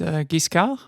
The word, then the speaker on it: Giscard: I would not let you get away with such a mispronunciation. You were saying it until you said right. Giscard. Giscard. No, Giscard. Giscard. You Italians will never get this.